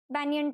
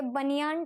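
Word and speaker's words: banyan: अब याद रखना ये बनियान ट्री नहीं है, बनियन नहीं बोलना है उसको, ये प्रोनाउंसिएशन गलत है, अब तक की सारी बैचेस यही बोलती थी, इट इज बैनियन ट्री।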